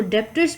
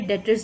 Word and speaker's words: debtors: इसको डेप्टर्स भी कह सकते हैं और बी को साइलेंट करके डेटर्स भी प्रोनाउंस होता है।